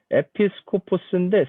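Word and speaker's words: ἐπίσκοπος: 근데 우리가 이야기하는 감독은 이 감시하는 사람 약간 이제 이런 또 성격도 또 지니고 있는데 이 참 헷갈리는데 자 원어로는 이게 뭐라고 읽습니까 이거? 에피스코포스인데 스코프가 우리가 보통 망원경 뭐 이렇게 스코프 이렇게 보는 거잖아요.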